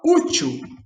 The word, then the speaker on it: útil: Quando a gente fala útil, a sílaba tônica é o U, que termina com L.